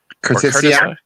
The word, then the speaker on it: curtisii: We have the double I. That's an EI sound. Okay. So how do you say it again? Curtisii. Curtisii. Okay. So like kind of you're saying courtesy, but courtesy.